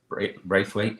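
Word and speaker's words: Branthwaite: Actually, is Everton's Jared Braithwaite. That's how you pronounce it.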